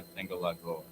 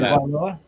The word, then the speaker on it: Tagovailoa: Do you value Jordan Love over Tua Tagovailoa?